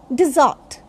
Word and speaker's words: dessert: So this is called dessert. R should be pronounced here. Generally in English language, in most of the words, R is silent. But here, R will be pronounced. Again, I'll tell you, dessert, dessert.